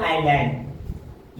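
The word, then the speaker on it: island: एस तो यहां पर एस का उच्चारण नहीं होता। एस साइलेंट रहेगा। जैसे कि यहां पर देखो आई और एल के बीच में एस है तो आइलैंड।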